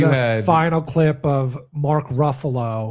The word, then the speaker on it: Ruffalo: And then I but had a final clip of Mark Ruffalo. It's pronounced Ruffalo. Ruffalo, excuse me.